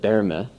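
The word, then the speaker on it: Böhme: by the name of yakob BMA actually better said Jacob B may because nobody can pronounce it the other way had an idea that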